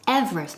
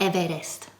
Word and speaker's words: Everest: Everest first pronunciation okay say it with me mount mount ow mount Oda Everest Everest given in the syllabus Everest not evidence okay repeat Libya Mount